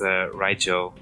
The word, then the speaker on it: Rygel: You pronounce it Rygel, I always pronounce it as Rygel. It's like bagel.